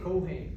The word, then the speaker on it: Keohane: on where you are how do you say your last name I say kohane kohane okay but I'm glad